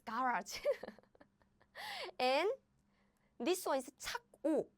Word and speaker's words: 착오: And this one is 착오, right? But the pronunciation is exactly the same.